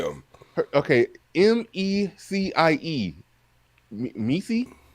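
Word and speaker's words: Mecie: see learn how to say them okay m-e-c-i-e meesee meesee okra okra okay okay got his name cauligreen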